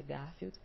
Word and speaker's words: Garfield: E o Garfield, né, a pronúncia seria Garfield, já ali com aquela carinha.